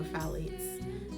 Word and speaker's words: phthalates: however you say that i'm not sure if the ph is supposed to be silent i've always pronounced that um i can't even say it again blood fall athletes i would say it's probably sally it's right or phthalates that tea must be silent um and then the